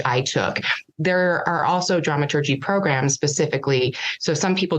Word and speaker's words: dramaturg: feel but drama tur with a hard G as the as the